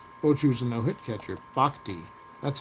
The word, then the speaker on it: Bochy: Bhakti.